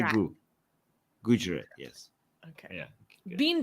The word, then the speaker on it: Gujarat: No, not Jew. Not Jew. It's not Jew. It's Gu.